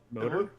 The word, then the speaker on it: MOTR: MOTR. So Motor. Motor. Is that how they say it? I definitely everyone just calls it Motor.